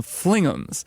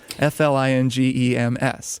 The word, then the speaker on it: Fling'ems: But then at one point, I was just talking and I called them Flingems because it's spelled that way.